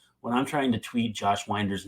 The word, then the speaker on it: Josh Winder: Stitch please wants to know how should I pronounce Josh winder's last name uh I just said it Josh